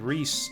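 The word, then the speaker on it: Riesz: name for us okay it's it's Rhys the Zed is silent we'll get sexy mage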